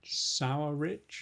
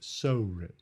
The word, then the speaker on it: Sorich: Michael Sorich? Sour Rich? No, Sorich. Sorich.